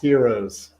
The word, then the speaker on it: gyros: gonna throw this out Gyros Gyros Heroes Heroes what is correct Heroes so the g is silent or the GK yeah